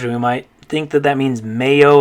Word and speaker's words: mayo: In Spanish, the way you would pronounce this is mayo.